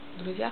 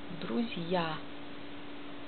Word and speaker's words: Друзья: Dann Wort Друзья. Друзья heißt Freunde. Друзья. Buchstabe Z wird mild und danach kommt J. Und dann A. Diese J bringt Buchstabe Ja mit.